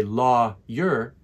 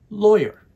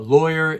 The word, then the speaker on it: lawyer: pronunciation of this word we don't say law your we put it together and we say lawyer lawyer a lawyer is a person who